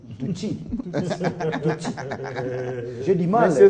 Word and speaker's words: Tutsi: L'enquête qu'on vient de dégager, n'est-ce pas, confirmer que ce sont les Tutsis, on puisse tuer les Hutus, contrairement aux Hutus qui ont pu se tuer. Corrigez votre prononciation. Tutsis.